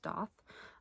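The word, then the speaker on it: daith: I don't really think you can see that, but it's like a it's spelled D-A-I-T-H, but it's pronounced doth.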